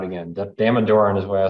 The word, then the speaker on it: Damodaran: Damodaran is what I say, that's how you say his name.